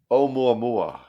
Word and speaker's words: Oumuamua: I don't even know how to spell it. Big. Is it OMMUMMM? M. Omumanu? Oumuamua.